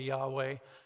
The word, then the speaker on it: Yahweh: name which is what it's y-h w h right we pronounce it probably Yahweh and in your Bibles